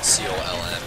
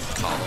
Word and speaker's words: Colm: Why does he have to pronounce it that way? C-O-L-M. Colm.